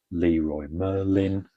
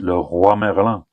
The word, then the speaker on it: Leroy Merlin: So I get these from Leroy Merlin, which is a hardware store out here in Spain, so they pronounce it Leroy Merlin, but they're actually French, so there they pronounce it Le Roi Merlin.